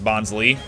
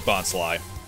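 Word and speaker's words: Bonsly: mystery of new movie they thought it was pronounced bonsley which i mean i think everyone did the structure of the word itself makes it seem like it'd be pronounced bonsley but it is bot's lie i also don't remember what uh new encounters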